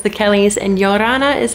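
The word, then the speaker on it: Ia ora na: guys it's Lauren from it's the Kelly's and yorana is how you say hello in Tahitian because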